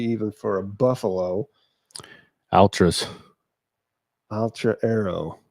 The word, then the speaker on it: Altra: Altra Arrow. That's Altra. Is that how you pronounce it? I think so. A L T R A. Altra. Seems like that's what it'd be. Altra.